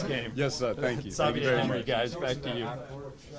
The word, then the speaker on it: Xavier: No, I was born in Belgium, and so they speak Flemish over there. So it would be Xavier here, but it's part like French, part Flemish, so that's why they pronounce it Xavier.